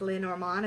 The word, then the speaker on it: Lenormand: because I actually read Lenormand as well I know it's properly pronounced Leonor Mon it's like a French term and I'm the worst